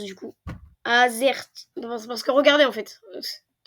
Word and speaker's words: Azerty: Ah, comment je le prononce du coup? Azerty.